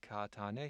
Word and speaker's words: Kağıthane: Rather than saying Kağıthane, he said Kağıttepe.